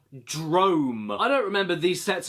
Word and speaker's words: Drome: anybody here remember yeah not drone Drome I don't remember these